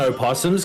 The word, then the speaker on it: opossum: damn low possum yeah if you pronounce the O and O possums because America that has o possums we've got regular possums but Americans say possums yeah I've never known